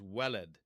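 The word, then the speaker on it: ولد: The I should mention that the um the he uh the Arabic cognate is welleled.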